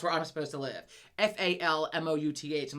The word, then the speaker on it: Falmouth: t h I'm like and I knew it was not pronounced foul mouth but I was like in my mind I can't unsee foul mouth and I'm like I need to live in fou mouth and it's Falmouth anyway Falmouth so like